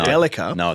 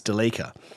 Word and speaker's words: Delica: pronounce things correctly yeah which by the way apparently it's Delica got told no no it's Delica but in Australia it's Delica so the Japanese who make the bloody thing call it a Delica so you are correct